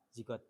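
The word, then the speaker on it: G-code: Ini tulisannya gigot, tapi membacanya zigot.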